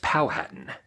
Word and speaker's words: Powhatan: Indians by the way it is pronounced almost like Manhattan but it's pal Hatton spelled p 0 wh